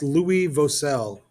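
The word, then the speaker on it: Louis Vauxcelles: His name is pronounced Louis Vosel.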